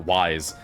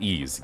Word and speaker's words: Ys: Well, I now know it's called Ease, because I remember saying, is it YS? He was like, no, it's pronounced Ease to me. Look, a treasure chest. He was upset because I guess it's a common thing for people to call it Wise.